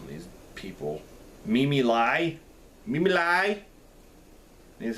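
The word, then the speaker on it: Me Me Lai: The next one um stars uh I can't even pronounce some of these people. Mimi lie. Mimi lie is how you say Mimi Lie.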